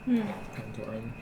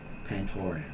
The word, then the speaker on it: Pantoran: Pantoran. The one time he was on screen. Okay, so they say Pantorian is how they say it.